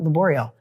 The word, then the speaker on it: Laborio: Sorry, is it Laborio? Laborio.